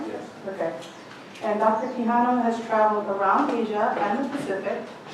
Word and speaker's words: Quijano: Quijano.